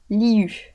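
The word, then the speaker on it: Liyue: Ça se prononce liu.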